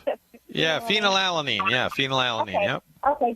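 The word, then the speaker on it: phenylalanine: the lifestyle therapy and the um and the phenoline. Did I pronounce that? Yeah, phenol alanine.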